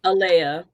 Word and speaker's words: Aaliyah: Aliia or Alia. Alia. Okay. Because I you know we got so many different pronunciations.